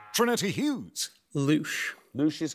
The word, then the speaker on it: louche: The word in question rhymes with the French words for shower, fly and mouth. Trinity Hughes. Louche.